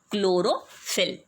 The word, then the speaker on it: chlorophyll: of a substance called chlorophyll. Let's look at the spelling and the pronunciation. Here H is silent, okay?